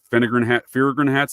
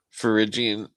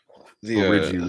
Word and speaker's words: Phrygian: You see, some Finnegan hats. I always mispronounce that. Finnegan hats or Finnegan hats, the Liberty caps. That's a common trope in there as well. Phrygian. Phrygian, there we go. Phrygian.